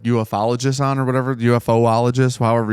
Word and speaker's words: ufologist: They use the O in UFO for the ologist, so I don't know how you want to pronounce it. Ufologist. Yeah, this feels better that way. Weird thing is to pronounce the letters separately and then make a word at the end.